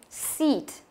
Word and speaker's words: seat: Cứ y hai chấm thì đấy là âm y dài và đọc phải căng miệng ra. Seat, seat, không đọc là sit, nhớ nhá, sit là sai. Sit đấy là âm y ngắn rồi, sit, sit, đấy là âm y ngắn.